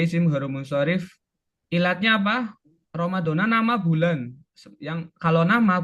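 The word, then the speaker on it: رمضان: Terus ada Ramadan. Ramadona ya bacanya ya.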